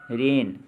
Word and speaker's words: reign: और रेन में साइलेंट जो लेटर है वो है G।